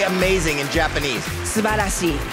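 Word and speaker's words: すばらしい: Subarashi. Subarashi.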